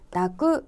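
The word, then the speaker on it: 抱く: 포옹 을 뜻 하는 이 한자 의 경우 , 동사 를 만들기 위해 끝 에 ' 쿠 ' 를 붙여 ' 다쿠 ' 라고 읽습니다 .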